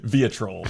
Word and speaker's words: vitriol: He moves that O. I mean, he is shoving that O up to the front. He wants a bigger spot for that O.